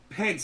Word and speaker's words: Pence: It rhymes with fence. Mike Pence.